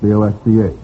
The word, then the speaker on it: Bosch: American Bosch, B-O-S-C-H. Bosch Magneto, would that be right? American Bosch. Is that pronounced Bosch? I think it's pronounced Bosch, yes.